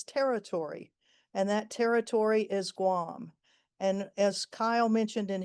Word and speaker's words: Guam: uh the island of Guam, the territory of of Guam or Guan as it should be pronounced.